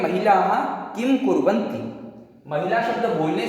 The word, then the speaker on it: महिलाः: किसी भी शब्द अथवा अक्षर के बाद लगे इस दो बिंदु को विसर्ग कहते हैं, जिसका उच्चारण ह के बराबर किया जाता है, ह के समान बोला जाता है।